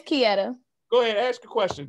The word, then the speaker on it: Kieta: You still said it wrong. You go ahead, correct me. I'm human. You said, it's Kia. You said that John three different times since I've been Kia. It's Kieta.